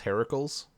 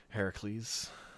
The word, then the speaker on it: Heracles: of them stor proper the proper pronunciation is Heracles so Heracles Heracles yeah Marvel Comics